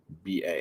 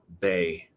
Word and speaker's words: Bai: i've had these bi they're pronounced by bai i used to think it was uh bae like that song hey baby hey bang no whatever it's bye bye as in bye bye i know embarrassing that's